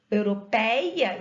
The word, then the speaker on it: europeia: tenho de todo fechado olha só eu falo europeia e abra bem a boca agora meia eu fecha a boca de tão fechado assim